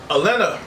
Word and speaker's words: Elena: So some of the topics we're going to be talking about is Crunchyroll Anime Awards, Elena, or Elena, depending on how you want to pronounce it, from Street Fighter 6, finally showing that gameplay trailer.